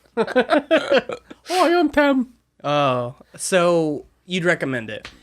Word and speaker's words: Thames: And like the River Thames, it's spelled Thames. The river, like... But it used to be spelled Thames. How, like, like... Hi! Temes, I think it is. I'm Tem. Yeah. The River Tem.